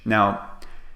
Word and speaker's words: and: just say n so we cut the D and we make the vowel very very short listen to me